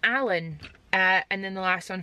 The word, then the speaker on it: Aelin: I was convinced it was Aelin. It's Alan.